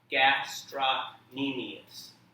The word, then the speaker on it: gastrocnemius: on the screen and do your best to pronounce it everybody say gastronemius and then eventually we'll do our whole bone